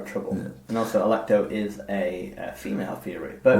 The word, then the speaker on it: Alecto: To achieve this end, she enlists the Fury Alecto.